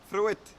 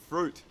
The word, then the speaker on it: fruit: that is fruit fruit so we do not say follow it through it and yes I was speaking to my Italian and Spanish students out there it's not through it even though through it sounds are much better than the boring English person virgin fruit but if you want to speak correctly in English we've got to say it the English boring way which is fruit okay same with suit